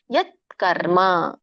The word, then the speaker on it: ಯತ್ಕರ್ಮ: ಅದಯ ಮಿತ್ಯವ ಕಾರ್ಯ ಮಿತ್ಯೇವ ಯತ್ಕರ್ಮ ವ್ಯಂಜನ ಇದೆತ ಯತ್ಕರ್ಮ ತಕ್ಕೆ ಕತ್ತು ಬಂದ ಹಾಗೆ ಹೇಳಬೇಕು ಯತ್ಕರ್ಮ ನಿಯತಂ ಕ್ರಿಯತೆರ್ಜುನ ಕ್ರಿಯತೆ